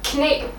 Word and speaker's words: knæ: Because it's called knæ. Oh, really? Yeah, so we actually say it. Oh, so in English we just decided to keep the spelling but change the pronunciation.